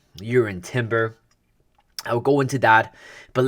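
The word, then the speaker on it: Jurriën Timber: Declan rice and also you're in Timber that's how you pronounce his name with the Y in front and stuff with J you're in Timber I'll go into that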